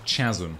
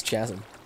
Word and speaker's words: chasm: In the Let's Play series before the Let's Play series, Nick pronounced it chasm. It's because it's chasm.